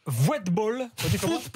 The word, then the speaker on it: Voetbal: Le magazine néerlandais Voetbal. Football. Le V, tu peux le prononcer comme un F. Foot et le O-E, c'est, vous vous souvenez Den Boer qui a joué au Girondins de Bordeaux.